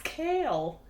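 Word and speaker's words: Chaol: pronounced it CH yeah it's Kale like k a l e but she was saying it K like K all like K all that's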